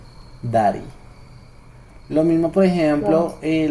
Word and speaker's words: Daddy: yankey usted ya visto Cómo se escribe dary Yankee no dary yanky se escribe así Dari se escribe con Doble D Dari cierto y esa regla me permite a mí reemplazar este sonido de la d por una r Entonces ahí es donde yo digo Dari Dari lo mismo por